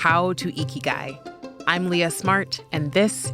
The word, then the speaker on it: Ikigai: Yes, it's pronounced Ikigai, if you've heard of it before. He talks about lessons for finding happiness and living your life's purpose. I heard about Ikigai years ago in passing.